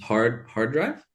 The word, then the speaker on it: HRDRV: Hard drive? Yeah, it's called Hard Drive. It's spelled like HRDRV, I believe is how you do it.